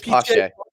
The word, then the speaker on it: Pache: It's Pache.